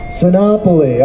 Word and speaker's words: Sinopoli: So, next up is Joe, and hopefully I'm going to pronounce it right, Sinopoli? Sinopoli, okay, like Napoli or something.